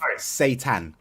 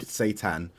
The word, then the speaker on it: seitan: It's like Satan.